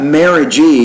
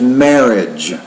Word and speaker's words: marriage: a third syllable there so it's not Mary G but just marriage marriage so you have a